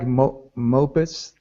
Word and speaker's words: mopeds: Unlike mopeds. Like this. Mopeds. It's the stress is more in the second syllable.